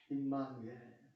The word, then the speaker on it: 임마누엘: 임마누엘. 네. 이거 발음 잘해야 돼. 그죠? 임마누엘. 엘이 붙으면은 하나님이라는 소리가 있어요.